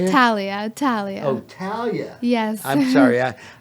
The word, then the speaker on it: Thalia: Thalia. Oh, Thalia. Yes. I'm sorry. I'm looking at your name was covered by red. Thalia. Yes. And so anyhow, we are going to be back with Thalia in just a short break on Meldon